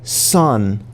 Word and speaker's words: son: Some people say son las when they see this. It's actually more like this. Son with a long O and an imaginary magic E.